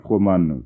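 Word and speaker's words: Froment: Froman. Froman, ça s'écrit F-R-O-M-E-N-T.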